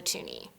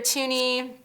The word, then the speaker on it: toonie: two dollar coin and this is the toonie why it's called a toonie because it rhymes with looney like there's there's no